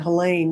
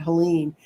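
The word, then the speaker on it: Helaine: names so she said except we call it helain not Helen she said every going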